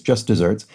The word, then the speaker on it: just deserts: deserts but but is just desserts is in fact the proper spelling for the phrase and so it's pronounced like the uh sweet follow-up to a savory meal dessert but it's an older